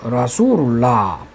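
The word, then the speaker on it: رسول الله: 뒤에 어떤 말이 오면은 라수루이 아니고 그냥 라수루 그래서 라수룰라 또 하나 예를 들면은 바이라면 집입니다.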